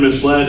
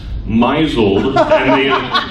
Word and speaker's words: misled: people early on page the word misled is pronounced myzel they assume that if the archaic past tense of a verb no longer use my soul which means to deceive there was a woman